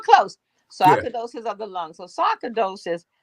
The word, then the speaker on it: sarcoidosis: question he says so scarce I hope I'm pronouncing this right is that uh sarcasidosis so sometimes of the lungs you were close of the lungs so sarcoidosis like lupus like like several other conditions um